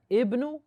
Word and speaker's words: ابن: He did not pronounce the alif of ibn because something came before it, a verb. He said خرج ابن. You have something came before it, so we got rid of that alif, and he said خرج ابن.